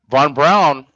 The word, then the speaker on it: von Braun: this over um um Von Brown and you pronounce it brown that's the way he pronounced it just like we say brown he would say brown